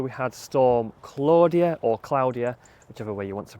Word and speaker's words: Claudia: I've come down the first time after we had storm Claudia or Claudia, whichever way you want to pronounce it. Apparently the correct pronunciation is Claudia because it's a Spanish name.